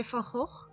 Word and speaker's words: Van Gogh: The palette I use is by Van Gogh. Yes, that's really how you pronounce it.